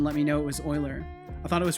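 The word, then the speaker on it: Euler: today years old when I realized Oiler is pronounced Oiler it I I had that concept introduced to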